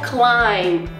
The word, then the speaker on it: climb: mas a gente não fala, que são as silent letters, são os sons mudos, como por exemplo na palavra island ou no verbo climb.